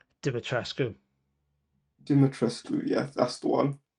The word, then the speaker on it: Dimitrescu: probably a better villain than Lady, I can't pronounce her name. Dimitrescu.